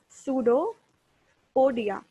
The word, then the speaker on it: pseudopodia: P silent रहता है, PSEUDO, pseudopodia, PODIA. Pseudo means false, podia means feet.